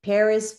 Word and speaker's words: Peres: pronounce your last name Paris people Paris Paris yes the American pronunciation Paris who is living in